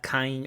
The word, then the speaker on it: kind: Kind, with the N and the D, kind.